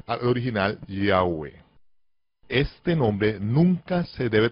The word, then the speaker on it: Yahweh: Y los judíos askenazi pronuncian el nombre Yahvé, cambiando la Vav en un consonante, pero se pronuncia como lo hacen los judíos sefarditas, los judíos españoles, cuya pronunciación es reconocida